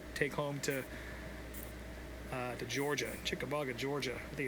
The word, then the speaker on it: Chickamauga: So that's a nice little paycheck to take home to to Georgia, Chickamauga, Georgia. I think it's how you say it. Is that how you say it? Chickamauga.